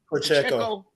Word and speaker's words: Pacheco: As long as they can man, how you pronounce their running back name? Pacheco.